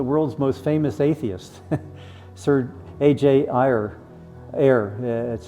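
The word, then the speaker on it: A. J. Ayer: Sir AJ er that's how you say his name.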